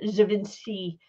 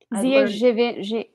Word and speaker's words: Givenchy: We've got Oswald popping up in the Givenchy brand. By the way, I learned that you pronounce that G as like a ZH. Givenchy.